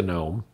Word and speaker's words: GNOME: gnome display manager and yes it really is pronounced gnome otherwise known as gdm